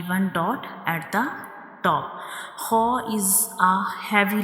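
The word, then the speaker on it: خاء: a throat letter, and ho is pronounced from the upper part of the throat, and it is also a heavy letter, bold letter, thick letter. We read it with thick sound.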